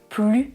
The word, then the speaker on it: plus: Je ne prononce pas le S parce que la phrase a un sens négatif. C'est une négation. Je peux dire « il ne veut plus de chocolat » avec la double négation.